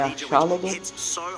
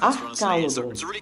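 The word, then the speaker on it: Archaludon: e Archalodon, não é Archalodon, de Assault Vest. Cara, eu não entendo, o nome do bicho é Archalodon. Por que raios você... A pronúncia é Archalodon. E você não fala K, você fala chá.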